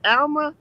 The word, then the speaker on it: Alma: me your name again is it alma yep that's you said it right um the official girls